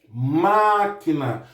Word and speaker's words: máquina: Então, em máquina, a sílaba tônica é o má, que é a sílaba que está acentuada aí.